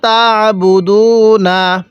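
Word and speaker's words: تعبدون: এরপরে ইদ ক্বালা লিবানিহি, এরপরে ইদ ক্বালা লিবানিহি মা তা'বুদুনা। আইনটা পড়ার সময় আমরা গলার মধ্যে হালকা চাপ দিয়ে পড়ব, তাহলে এই আইনটা সহিশুদ্ধ উচ্চারণ হবে। তাহলে কিভাবে পড়তে হবে? ইদ ক্বালা লিবানিহি মা তা'বুদুনা।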